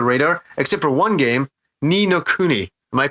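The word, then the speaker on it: Ni no Kuni: unbelievably off the radar except for one game ninokuni am i pronouncing that name correct pete yeah i thought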